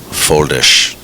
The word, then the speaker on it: Foldes: So that's the correct pronunciation of his name, Vilmos? Vilmos Foldish.